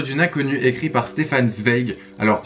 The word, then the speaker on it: Zweig: inconnue écrit par Stefan Zweig. Alors ça se prononce Zweig je crois parce que c'est allemand.